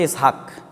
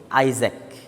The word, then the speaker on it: ইসহাক: যে বিজ্ঞানী নিউটন তো বিজ্ঞানী নিউটনের নাম কিন্তু ইসহাক কিন্তু উচ্চারণ করা হয় ইংরেজিতে কি আইজ্যাক কিন্তু আসলে কি ইসহাক ইসহাকের ইংরেজি ভার্সন হচ্ছে